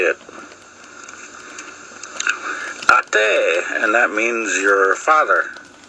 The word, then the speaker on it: Ate: To non-Lakota or non-native people, it would be the word ate. Like you just ate food. Or like the word hate, except you take out the H and you have A-T-E. Ate, that's how you say it.